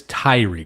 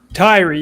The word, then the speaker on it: Tyrie: It is Tyrie, correct? It's not Tyrie? Tyrie, you got it right the first time.